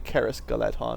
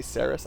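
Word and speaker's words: Caras Galadhon: me on some pronunciations apparently for elves in Elvish se's like this are pronounced with a hard C so I think I was saying Caris galleton or did I say sarus I don't know but anyway I think it's Caris rather than sarus and that goes for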